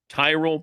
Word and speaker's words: Tyrol: It's Tyrell Pickleball Shoes. You spell it Tyrol. Tyrell Pickleball Shoes, the best pickleball shoes, purpose-built for pickleball.